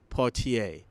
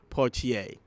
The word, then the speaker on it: Poitier: of legend himself damien partier and of course you know me i said his name wrong but i know it now damien poitier got to give a